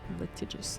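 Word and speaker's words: litigious: Latigious. That's That's right. Right. That's the That's the right pronunciation.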